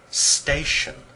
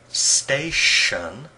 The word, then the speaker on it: station: what's this a picture of a railway station station did you notice how the ti sound in station sounds like the t.i sound in station station sounds like the sh sound in sugar sugar